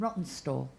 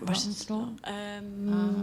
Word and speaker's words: Rawtenstall: Yeah, and Rawtenstall. Have I pronounced that right? Rawtenstall?